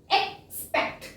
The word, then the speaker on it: expect: ਨੈਕਸਟ ਇਜ਼ third ਇਜ਼ EXPECT, ਹੁਣ ਇਹਨੂੰ ਆਪਾਂ ਅਕ ਨਹੀਂ ਪੜਾਂਗੇ, ਇਹਨੂੰ एक्स ही पढ़ांगे। Pronunciation इज एक्सपेक्ट, ठीक है। एक्सपेक्ट मींस एक ते थोड़ा लंबा आप साउंड करांगे, लंबा इसमें, फिर आएगी स्पेक्ट, एक्सपेक्ट, ठीक है।